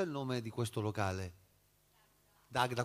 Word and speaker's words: Dagda: Dagda, con l'accento sulla prima e non Dagda alla francese.